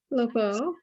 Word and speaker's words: LeBeau: LeBeau, yes.